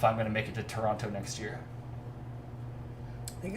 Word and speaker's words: Toronto: a churro Toronto yeah soft teas all around there shouldn't even be any teas in that word Toronto right I want